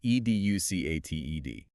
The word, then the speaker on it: educated: And the last big one, e d u c a t e d. Educated. Four syllables. The critical mechanism here is hitting that ed at the very end clearly.